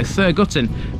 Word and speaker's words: Thurgarton: at the 2011 census I imagine its name is pronounced in many different ways I've gone with fergarten but this is Nottinghamshire so thurgotton may well be heard here too to the west of